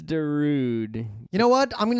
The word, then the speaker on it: Darude: Should we pronounce it in Finnish or in American? D day. It is dra day.